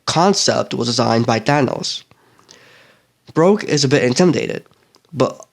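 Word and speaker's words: Brokk: When a dwarf named Broke greets them, I don't know if I'm saying that right, but it's spelled B-R-O-K-K, Requiem says that they need a weapon forged, as well as some armor.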